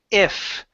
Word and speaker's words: if: Um, let's go to the word if. Okay, so instead of saying e if, okay, use a short i.